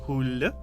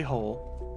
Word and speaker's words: Hole: It's supposed to be the Swedish Hulle, but it's they just say Hole.